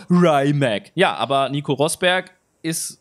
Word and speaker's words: Rimac: die Kommentare geschrieben hat, da steht aber Rimac, das spricht man Rimac, weil Nico Rosberg, der hat sich ja den ersten von den 150 Limitierten des Nevera gekauft und der sagt auch Rimac.